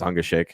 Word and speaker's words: Ungashik: It's a very German name, and I start to pronounce it German. I have to stop myself every episode in introducing him. But it's Ungashik.